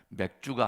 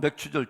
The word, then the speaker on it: 맥추절: 경기 해야 될 것은 이 발음을 잘 해야 된다는 것입니다 맥주가 아니라 맞춥니다 아 자 그래서 자 이 세가지의 절기 똑같죠 맥추절 칠칠절 오순절 이것은 뭐예요